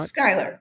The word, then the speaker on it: Schuyler: It's about someone I'd never heard of, a writer called George Schuyler. Am I pronouncing that right? Skyler.